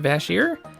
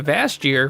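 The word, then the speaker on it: Vash'jir: know it's actually pronounced bass here because I've been calling a vast year for ever and I guess the apostrophe is after the J and the J is actually silent and I don't know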